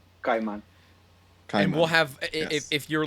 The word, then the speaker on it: Caimán: So think of Kai as in Kai. So it's spelled Caima with an accent on the A, then N. But imagine you're just saying Kai, Kai, and then man, Kaiman.